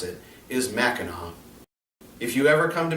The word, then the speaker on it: Mackinac: like this it looks like it would be pronounced mackinac and a lot of people that come to visit from outside of the state say mackinac but the proper way to pronounce it is mackinac if you ever come to michigan make sure